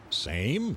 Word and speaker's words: same: Same? That's not right. S-A-M-E. That silent E at the end makes it same.